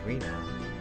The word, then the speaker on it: Rena: So read out as Rena.